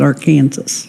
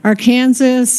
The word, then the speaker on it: Arkansas: Kansas it may be spelled Arkansas but we pronounce it our Kansas no you're you're fine we just did want